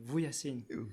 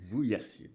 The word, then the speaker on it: Vujasin: Puis alors on me dit c'est Vujasin. Vujasin. Alors quand j'ai essayé d'expliquer aux commentateurs américains de prononcer mon nom. Ouais. Vujasin, non. Vujasin. Vujasine. You know, you have Vuja and Sin.